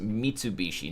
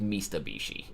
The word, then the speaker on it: Mitsubishi: pronounce it the uh the brand name is pronounced Mitsubishi not mistabishi have to get a